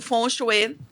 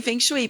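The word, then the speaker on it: feng shui: Está certo também, Fengchui, porque a eh é uma forma brasileira de se falar.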